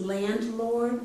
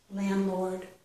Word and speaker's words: landlord: raises the rent regularly this is landlord but I'm not pronouncing that D I know when I say it um landlord but it it probably should be but I I'm